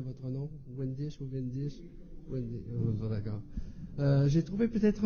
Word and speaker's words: Windisch: Est-ce que je prononce bien votre nom? Wendish ou Wendish? Wendish.